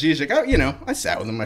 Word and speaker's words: Žižek: Is it Žižek? Is it no? Oh, it's Žižek. I'm getting from the recording room. They're telling me it's Žižek.